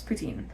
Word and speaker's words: poutine: but in French basically incidentally how do you pronounce poutin poutin p p ptin or Putin it's definitely